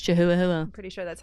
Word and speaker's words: Chihuahua: It's Chihuahua. I'm pretty sure that's how you pronounce that. It's got a hua hua at the end.